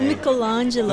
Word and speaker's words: Michelangelo: we are right there with Michelangelo and Dante Michelangelo that's how you pronounce this is your moment with Florence wait